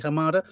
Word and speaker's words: Hamada: Walter Hamada, pronounce his name correctly, Hamada, Warner Brothers, head of DC.